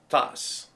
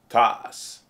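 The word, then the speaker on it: tasse: of this week bug how do you say mug in French toss now say it out loud with me toss now pause your viewer now you have it toss and I'm gonna leave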